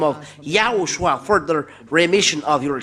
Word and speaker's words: YAHOSHUAH: It's good then if you pronounce YAHOSHUAH, not Jesus, but YAHOSHUAH.